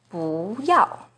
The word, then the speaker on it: 不要: For example, 不 is the second rising tone in 不要, but it's the fourth falling tone in 不好.